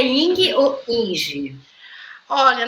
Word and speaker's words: Inge: Olha, na pronúncia eu me criei sempre sendo Ing, porque ele é um nome estrangeiro e ele na sua origem se pronuncia Ing. Mas Inge eu também atendo porque ele se escreve Inge.